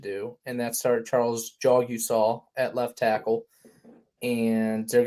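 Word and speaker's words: Jagusah: Mike, did you know you pronounce his last name Jogusah? This was a hot topic of. Did I really? Jagasaw. Yeah, no. No, Well, yeah, Kyle has it's it right. Jogusah.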